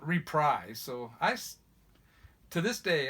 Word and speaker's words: Reprise: know there's people oh it's it's reprieves and yeah I guess it is supposed to be pronounced to reprise there's even a clip